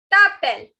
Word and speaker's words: t'appelles: Again, the last S is not to be pronounced.